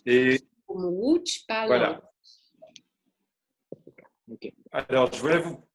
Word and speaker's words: Łódź: Ça se prononce comme un W en français. D'accord. Comme Łódź. Et Comme Łódź, pas voilà.